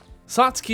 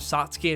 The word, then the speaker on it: Satsuki: Satsuki is pronounced more like in Japanese with the whispered tsu sound.